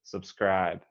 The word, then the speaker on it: subscribe: i say it subscribe so you want to emphasize the the second syllable subscribe subscribe yes okay next